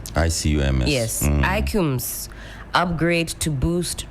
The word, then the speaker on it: ICUMS: ICUMS.